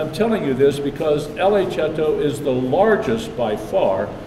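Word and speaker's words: Cetto: called La chapter chouteau is Italian you could probably tell that by the the way we pronounce it but it's spelled c e TT oh and i just telling you this because la cheto is the largest by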